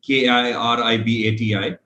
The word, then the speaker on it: Kiribati: over there known as kiribati k-i-r-i-b-a-t-i pronounced as kiribati because ti over there is pronounced as an s so i visited the